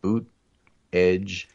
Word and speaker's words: Buttigieg: Buttigieg. Yes. I'm boot, edge. Boot, edge is what I was told.